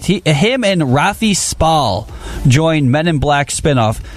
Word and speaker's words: Spall: Yeah, I'm not sure how to pronounce his name. Spall. It's Rafi Spall.